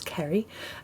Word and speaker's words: Ceri: what you do so uh my name is krie uh and thank you for pronouncing my impossible name uh well that's always